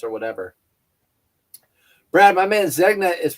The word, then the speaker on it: Zegna: Brad, my man, Zegna is pronounced Zay It's pronounced Zegna. I don't see your G in it. You're forgetting your G.